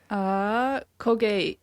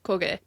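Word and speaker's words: Kōgei: Kogi? Koge. Yeah, Koge.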